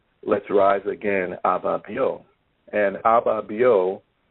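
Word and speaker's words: Ababio: let's rise again and abba bio is is spelled a b a b i o and it's a a ghanaian word or i don't a a a khan the akan language because they have many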